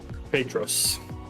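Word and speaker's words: Πέτρος: Peter you got it petus yeah not like Padre not not like the Spanish word for father padre right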